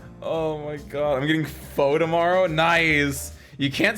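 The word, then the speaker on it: Phở: I've always heard faux. It's not foo. Right? I actually don't know. I swear. Maybe it's an American thing. Maybe it's a Midwest thing. Rhymes with duh. Pho? It's pronounced pho?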